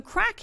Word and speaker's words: craic: we did a double-take so crack in Ireland remember with a different language our Irish language is